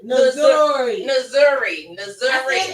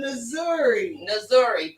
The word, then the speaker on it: Nzuri: Nzuri. I did good. Nzuri.